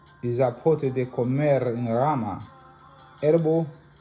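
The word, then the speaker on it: epazote: Izapote, pronounced Izapote.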